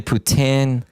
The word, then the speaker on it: poutine: It's officially Putin. It's uh pedro grease. I'm not saying you people should say it that way, but that is the proper way.